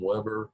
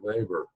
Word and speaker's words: Weber: slip and call him lever but in German the W's are pronounced like a BA Weber so anyway part of